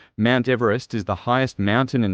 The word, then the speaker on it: Everest: as Peak 15 was renamed for Sir George Everest British surveyor general of India from 1830 to 1843 according to eological sources the Mountain's Western name is often mispronounced ever EST or EV rest despite the pronunciation of s George Everest serame